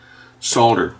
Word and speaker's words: solder: over top of it solder the correct pronunciation by the way because I'm not an American I do pronounce the L so don't correct me